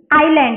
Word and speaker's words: island: नाउ ISLAND, आइलैंड, एस जो है वो साइलेंट है, ठीक है, इसीलिए हम इसे रीड करेंगे आइलैंड, ISLAND, आइलैंड।